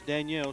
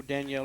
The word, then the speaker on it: Danielle: That is Danielle Shaw. We are not mispronouncing. That is the way he prefers that his name be pronounced. So Danielle it is.